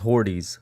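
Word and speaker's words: Hortiz: big fan of horrets horrits torches right horses yeah h-o-r-t-i-z yeah yeah ortiz i i can't i don't really know apparently according to a very creative person on twitter it's pronounced hordes so that's what i've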